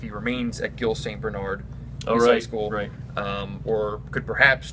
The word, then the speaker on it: Bernard: Bernard and being, or actually Bernard is how you pronounce it.